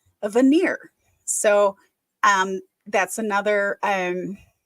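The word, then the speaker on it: venire: e r so but it sounds just like veneer like a wood veneer would sound so um when we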